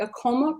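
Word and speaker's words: AAKOMA: Charmaine Jackman is with the, help me pronounce this, the ACOMA Project?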